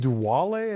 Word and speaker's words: Duale: It's a Sedici Duale, I think it's pronounced, D-U-A-L-E.